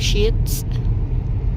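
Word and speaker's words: Sheetz: And you know scan sand span salon the how you pronounce that love? Sheets sheets.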